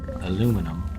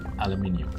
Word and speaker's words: aluminium: I know in the US it's called aluminum, but you know, where I'm from in Ireland, we pronounce it the English way, which is aluminium.